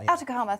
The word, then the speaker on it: Atacama: chile in chile in the attic chima atacama atacama thank you in the i was going with the italian pronunciation in the atacama desert um there's just